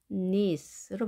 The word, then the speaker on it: niece: 이 발음은 nice가 아닌 niece로 발음합니다. niece.